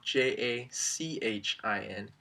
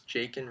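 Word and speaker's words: Jachin: heard is walking so if you think of the CH like the CH and Michael you'll get it right every time so it's jake and i was born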